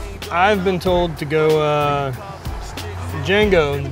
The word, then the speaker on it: Django: I've been told to go Django, D is silent, and Wookiee style.